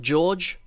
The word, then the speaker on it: djokson: The first mock we have today is Keirok Iron Hand by, now apparently this is pronounced George, but I like to say DJ OK Son.